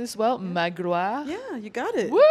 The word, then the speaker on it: Magloire: Today with me is Manushka, and am I pronouncing this well? Yeah. Magloire.